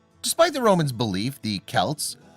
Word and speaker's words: Celts: Despite the Romans' belief the Celts, pronounced with a hard C or K sound, were anything but barbarians.